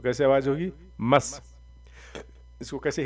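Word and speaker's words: مَص: मस। इसको कैसे हिज्जे करेंगे? मीम स्वाद ज़बर मस, मस, मस, सीन नहीं, मस।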